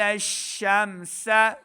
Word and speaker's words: الشمس: وجعل الشمس شمس، دیکھیں سین ہے، سیٹی کی آواز آئے گی، شین کو میم کے